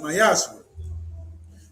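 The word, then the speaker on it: מעשר: You can find it in numbers chapter 18 verse 21 and Malachi chapter 3:es 8-10 means 10th in Hebrew and it's pronounced myashu 10% of every penny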